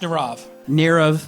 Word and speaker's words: Nirav: Nirav, it's pronounced Nirav.